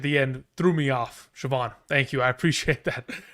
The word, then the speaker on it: Siobhan: So, it's just pronounced Siobhan. Yeah, because the the auh gh at the end threw me off. Siobhan, thank you.